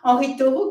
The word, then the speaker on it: Henri Thoreau: » Et puis, à peu près à la même époque, il y a un autre grand naturaliste, Henri Thoreau, je prononce à la française, Henri Thoreau, qui est l'auteur d'un